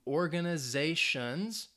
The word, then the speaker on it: organizations: The verb stresses on the second syllable, objects to organizations, ends in the TION syllable, the second to last syllable, that ze, organizations that use.